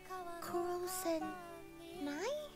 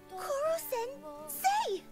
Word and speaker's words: Koro-sensei: Kuro-sen Nai? Koro-sensei!